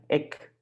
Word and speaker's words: ik: Now we go to I. That's very short. I, like ik. That means I, ik.